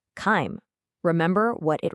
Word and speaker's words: chyme: Is it A, chives, B, chime, or C, chyme? Remember what it rhymes with. The correct answer is C, chyme.